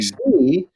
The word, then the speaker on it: Xi: It has a KS sound, like we might say in fox. You ever notice your F has an F sound at the end of it? Fox. Mm-hmm. Well, that's what the key is. Xi, fox.